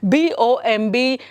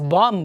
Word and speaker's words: bomb: Then the next one, BOMB. So you're familiar by telling it as bomb anta heltira. So it's not bomb, it's bomb. Bomb. B is silent again.